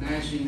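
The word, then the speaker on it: gnashing: be The Weeping and the nashing of teeth and nashing is spelled GN and I thought well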